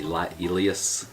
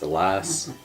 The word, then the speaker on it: Elias: Next, the 7-man Elimination Chamber match between Roman Reigns, Braun Strowman, Elias, the way it's spelled, I keep wanting to say Elias, but it's Elias, Finn Balor, John Cena, Seth Rollins, and The Miz.